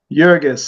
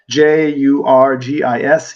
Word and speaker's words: Jurgis: Jurgis, I'm pronouncing it, the J, like, they probably would pronounce it in the old country, Jurgis, Jurgis Rudkus, Rudkus.